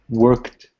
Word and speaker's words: worked: And I want you to tell me, Luis, how would I pronounce that word? Worked.